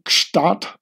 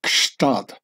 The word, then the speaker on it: Gstaad: over the pronouncing of Gstaad, which is not really German, and with no less than three consonants following each other up, a G, an S, and a T, Gst.